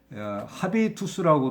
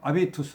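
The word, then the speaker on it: habitus: 아비 투수 의 문제입니다 이 아비 투수는 어 원래 라틴어 에요 라티노 그래서 이거를 합의 투수라고 도 발음하고 h 를 발음하지 않고 그냥 아베 이투스 라고도 발음만 방식이 있습니다 그래서 여기서는 h 를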